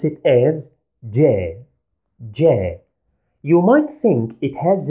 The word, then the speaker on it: ج: we pronounce it as J, J. You might think it has the same pronunciation as the English letter J, but here is a tiny difference. We add a slight D before the sound.